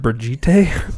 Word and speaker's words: Brigitte: They pronounce it Brigitte?